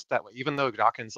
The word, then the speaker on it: Dawkins: pronounced mispronounced it as dockings but a lot of people do that and so yeah it's important people to remember when mentioning Richard Dawkins name it ends just with NS not NGS so just just keep